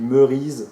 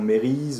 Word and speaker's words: Merise: r et s alors ne mettez pas de y ou n'écrivez pas ému on dit merise d'accord c'est pas emmaüs est mp et reyes merise donc prononcé justement merise et non mairie ou quelque chose comme ça c'est une méthode d'analysé